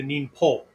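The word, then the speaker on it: 忍法: japanese uh speakers linguistically so it changes from uh mean pull neem hole to nin poll right it's easier for us because we speak at the front of our mouths right but uh and it actually would be more pronounced more like an n-i-m-p-o right right so uh but it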